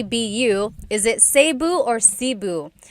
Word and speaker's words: Cebu: So, technically in the Tagalog alphabet, the letter E can be pronounced E or E like the letter I. So, I say Cu. Cebu. And I know some people say sabu, but usually it's either sibu or sebu.